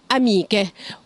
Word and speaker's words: amiche: penne ragazza ragazze amica amiche وهنا لازم ناخد نحط في اعتبارنا ان كلمة أميكا التشي فيها اتنطقت ك وفي نفس الوقت برضو اتنطقت ك في الجمع عشان احنا حطينا حرف الأكا قبل الاي اخر مرة penne ragazze amiche benissimo Anna bene.